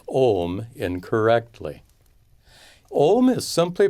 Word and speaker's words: Om: So Om is properly pronounced with an extra long O. Om.